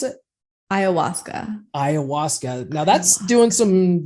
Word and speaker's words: Ayahuasca: It's how do you pronounce it? Ayahuasca.